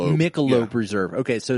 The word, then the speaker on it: Michelob: Um this is their uh is it Michelone? Michelone Reserve. Uh Michelob is pronounced Michelob Reserve.